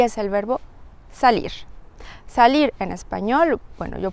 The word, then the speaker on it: salir: un reputación y eh la r del verbo salir en francés se pronuncia como una J salir salir otro Falso